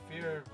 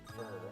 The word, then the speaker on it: Fir: I thought she called fear fear, not fur. I called her fur first and then uh switched uh corrected myself. Fear cuz in Japanese it would be pronounced fear, wouldn't it?